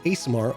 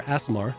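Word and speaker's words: Aasimar: to that, which is the Asimar or Asimar, however you want to pronounce it.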